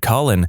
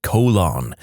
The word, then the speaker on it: Colin: Conversely, I went to high school with a kid named Colin, and our physics teacher constantly pronounced it colon.